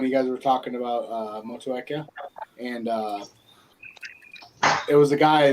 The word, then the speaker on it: Motueka: and say how they're all supposed to be pronounced? And he goes over them all. Motueka. Motueka. Motueka, not Motueka. Motueka. Motueka.